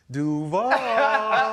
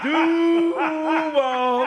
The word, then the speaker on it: Duval: So he gonna either say it like the coach said it, Duval. Duval. See what I'm saying? That's official. It's all about the U's and the A's. Coaches had the long A.